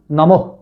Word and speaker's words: নমঃ: যদি বিসর্গ শব্দের শেষে থাকে তাহলে হ এর খন্ড করে উচ্চারণ করা হয়। যেমন নমহ নম বিসর্গ।